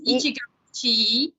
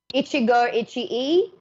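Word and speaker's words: 一期一会: And then the last one, I've forgotten how we pronounce that one. It was a long one. That one is Ichigo Ichii. Ichigo Ichii.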